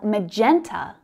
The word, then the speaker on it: magenta: Now, magenta is also another fabulous shade of pink. It's quite similar to fuchsia because it's blended with purple. Magenta, magenta. So we've got three syllables there.